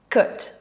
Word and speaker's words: could: out your pronunciation because we don't pronounce the o and the l cut could for example when i was a child i could do backflips in the